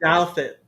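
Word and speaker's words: Douthat: Douet.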